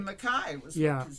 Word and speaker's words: MacKaye: It looks Percy like, Mackay was yeah, what his name right. was. It looks like McKay, but it's pronounced yes.